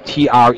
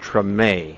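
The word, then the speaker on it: Tremé: opening ceremony for TR t r m but it's pronounced TR it's not short for extreme it's TR uh it's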